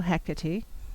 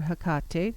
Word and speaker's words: Hecate: on my personal path I follow Hecate or Hakata depending on how you pronounce it and then I